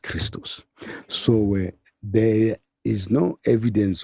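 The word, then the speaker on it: Χριστός: in Greek XP act is XPto and is pronounced Christos.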